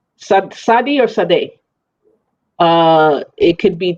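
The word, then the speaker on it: tsade: is a sadie or sade uh it could be t z a d e or t s a d e it is not taba almost like the tea is silent a little bit you know like instead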